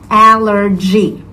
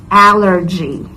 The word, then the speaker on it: allergy: of the word is allergy G so it's like the same sound like when you say jogging so that's how you properly say it allergy in a sentence you